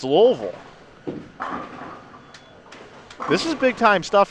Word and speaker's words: Louisville: hear that as Louisville Slugger that's how it's pronounced so then people have carried that brand name over to the town when it's louville this is Big Time stuff here this morning